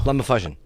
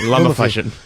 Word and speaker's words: LumaFusion: It's Is it fucking- pronounced? Luma? LumaFusion. Okay, LumaFusion.